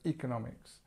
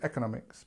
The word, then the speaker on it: economics: like the previous slide we have a word that actually has a secondary stress as well so economics um economics now it depends where you are the the Americans I think say economics but we say economics in in English British English I say anyway um so economics